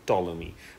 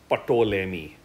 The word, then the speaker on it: Ptolemy: let's go to ptolemy i know the p is silent i remember hearing it so i'm calling him ptolemy not patolemy so ptolemy again a monk